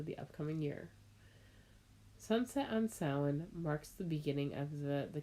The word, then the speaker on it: Samhain: And it says up top, a Gaelic word pronounced Samhain, which translates to summer's end.